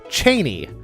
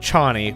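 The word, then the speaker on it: Chani: this instantly apparently um Frank Herbert in his mind pronounces uh it as Cheney not Chie which I mean Frank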